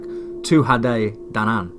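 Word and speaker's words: Tuatha Dé Danann: Tuatha de Danann. The approximate pronunciation sounds like Tuatha Danann.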